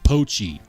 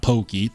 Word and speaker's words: POI: uh the designer Japanese oh it's POI POI not Pokey POI my bad yeah the